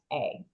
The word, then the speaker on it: Yrsa: So first name is spelled Yrsa, Yrsa. Yeah. So that's nice Ursa.